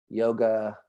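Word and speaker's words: Yogācāra: So I know you told me once and I forgot already, but it's Yogacara.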